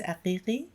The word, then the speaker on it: Aghighi: It's Aghighi. You actually nailed it. But you have like the way to say it. Yes. So I'm originally from Iran. So the correct pronunciation is Aghighi.